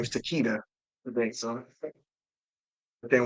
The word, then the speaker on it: Takeda: um Takeda takita um fourth snake pronounces it Takata because in Japan it's pronounced Takata um well that maybe